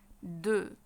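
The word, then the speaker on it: deux: رقم انين رقم انين اسمه دو دو الاكس ما بتنطق الاكس سايلنت ما بننطقها يبقى اسمها ايه د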